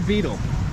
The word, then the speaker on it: betel: it's made with the betel leaf. I think I'm pronouncing that right, betel leaf, betel. Is it betel or beetle?